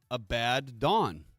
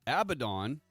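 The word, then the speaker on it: Abaddon: the Antichrist is named Abad Dawn. People mispronounce it and say abdon or abadden, but it's just break it up a little bit. Just separate the letters out. It's a bad dawn.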